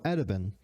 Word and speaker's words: Attaben: It's just taken from Swedish åtta ben, meaning 8 legs. So you would just spell it with this kind of a, like with a dot over. And in Swedish, we call it å. So åtta ben, making it 8 legs.